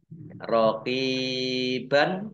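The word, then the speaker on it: رقيبا: Ba fathah tanwin alif, kalau wakof dibacanya fathah panjang 2 harokat. Namanya mat iwad. Rokiban dibaca rokiba.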